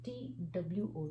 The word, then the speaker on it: two: two years old so t w o two there's no sound of w this is pronounced as 2 so 2 2 and 2.